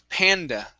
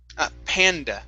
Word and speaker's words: panda: Next up is the word panda. Right here, panda. Make sure to pronounce the A at the end. How? Panda.